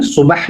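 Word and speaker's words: صباح: So Sabah al Khair, I always say swad, not seen. No, swad. Sabah and then ha. Sabah. So subuh is the morning. Subah जो आप कहते हैं, because Arabic correct pronunciation is subah.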